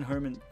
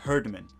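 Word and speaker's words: Herdman: he's good as well John Herman has been seeming to be doing a good job so far sorry it's John herdeman I said it wrong but okay I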